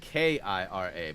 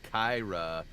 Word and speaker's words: Kira: It's really your real name is spelled K-I-R-A, but so many have called me Kyra. So it's Kira. Is that Kira the right way to say it? Just so I know, versus Kyra.